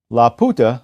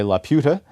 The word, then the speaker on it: Laputa: Laputa, I pronounce it that way rather than the English way Laputa, because it is a pun. It's the Spanish word for the prostitute.